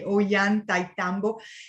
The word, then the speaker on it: Ollantaytambo: So if you want to pronounce it after me, Ollantaytambo.